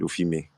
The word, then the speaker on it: Offime: you pronounce it correctly at the end when you said offime.